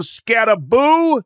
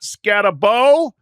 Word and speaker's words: Skattebo: And I have to correct my pronunciation. Cam Skattebo, not Skattebo.